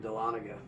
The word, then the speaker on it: Dahlonega: Even over here in Dahlonega.